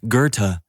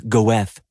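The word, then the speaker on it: Goethe: And sometimes you may confidently pronounce Gerta as Goeth during a star-studded dinner.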